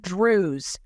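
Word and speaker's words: Druze: he uses this word Drews it's not Jews it's Drews this is another ethnic group that are similar to Muslims but they seem to be their own group but that rhymes with Jews and the caption is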